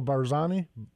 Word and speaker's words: Barzani: PES murga General I'm probably gonna say his name wrong General barzani barzani yeah you got it yeah we are